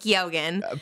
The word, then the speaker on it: Keoghan: It's Keoghan. Period. That's how you say it.